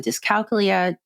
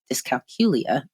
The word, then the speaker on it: dyscalculia: two separate series on dyscalculia dyscalculia as most say which I'm starting to believe that is a correct way to say it I think I've been saying it wrong and then I also